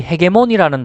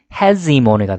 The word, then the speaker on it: hegemony: 그 다음에 여러분들이 헤게모니라는 단어를 많이 쓰지 않습니까? 근데 발음은 hegemony가 됩니다. 여기 Z 발음이 돼야 됩니다.